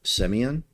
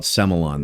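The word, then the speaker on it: Sémillon: side in Australia is to drink an aged Semillon, kind of like Bordeaux. If you were to drink an aged Bordeaux Blanc, Semillon is the grape. Is the grape, or as the Aussies call it, Semillon.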